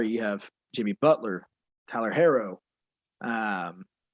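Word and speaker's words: Herro: have jimmy butler tyler harrow um i'm pretty sure it's harrow it's hero is it hero i'ma say hero he played at kentucky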